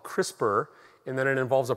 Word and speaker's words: CRISPR: once and then i'm just going to say crispr it's like the crisper drawer in your refrigerator that's how you pronounce it all right so um